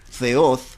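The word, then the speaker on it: θεός: compuesta a significa sin y theo que en realidad en idioma griego se pronuncia feos en que el nombre de dios feos ateo significa sin dios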